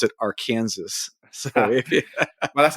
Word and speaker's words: Arkansas: in Kansas it's spelled Arkansas but you you pronounce it Aransas well that's how they weed you out that's